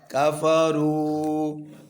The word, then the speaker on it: كفروا: كاف रा पेशवारू بشوار कफरू ये जो अलिफ है ना वाव के आगे ये साइलेंट है ठीक है ये वाला जमा के लिए होता है निशानी के तौर पर कफरू كفروا कफरू كفروا अब